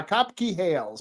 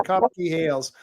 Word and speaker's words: Kopke-Hales: Uh, it it's pronounced Copkey like a cop and a key. Ah, Copkey Hails. Patrick Copkey Hails.